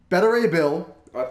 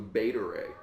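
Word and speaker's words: Beta Ray Bill: characters coming in Gardens the galaxy bond three better a bill super pronounce that name again better a bill thought it was beta ray beta ray better a beta ray what I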